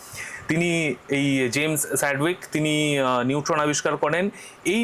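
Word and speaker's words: Chadwick: তারপরে 1932 সালে তার ছাত্র জেমস স্যাডউইক এটা উচ্চারণটা চ্যাডউইক নয়। কিন্তু এই উচ্চারণটা হচ্ছে স্যাডউইক।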